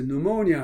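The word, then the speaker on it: pneumonia: 그 의학 용어에서 누모니아 할 때 그 폐렴, 누모니아, 그 피는 발음을 안 하는데 여기서 pneuma.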